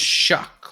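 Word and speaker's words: Shough: you know AI says it's pronounced shuck like rhyming with the word chuck or luck.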